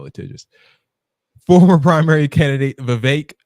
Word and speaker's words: Vivek: Former primary candidate Vivek, rhymes with cake, Ramaswamy, and Congressman Byron Donalds, the one that looks like Dex, were all pictured down.